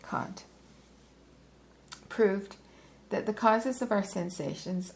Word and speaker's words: Kant: Kant or Kant, some people pronounce his name Kant. I think I'll go with Kant proved that the causes